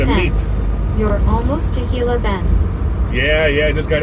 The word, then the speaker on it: Gila Bend: You're almost to Hila Bend. Yeah. Yeah. I just got into into Hila Bend or as I call it, Gila Bend. Pronounce that G pretty pretty good.